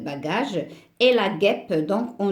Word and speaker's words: bagage: n'a pas de sens bagage la même chose ce e si on le laisse ça va se prononcer bachage donc on doit en vous avez le E ça reste bagage et la guêpe donc